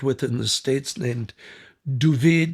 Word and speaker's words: David: in the States named Duvid, they pronounced David Duvid, uh, Gerinkle.